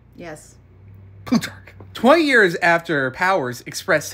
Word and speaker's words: Plutarch: Plutarch.